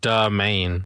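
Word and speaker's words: Damiane: Domain. I can't pronounce it. D A M I A N E. Like do the main.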